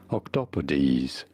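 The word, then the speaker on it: octopodes: If you do apply the Greek grammatical rules, the plural of octopus is not octopuses, but rather octopodies.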